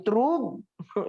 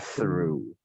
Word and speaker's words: through: Kan udah saya bilang, ini bacaannya bukan truk. Truk. Bukan. Bacanya adalah through.